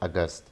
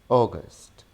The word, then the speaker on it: August: So this is not August, this is August, August, August.